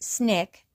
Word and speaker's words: SNCC: Ironically, the Civil Rights Insurgency in Loun County, Alabama, where the student nonviolent coordinating committee or SNCC, pronounced SNIK, helped organize an independent political party, was nicknamed the Black Panther Party, and provided the BPP with its name and symbol.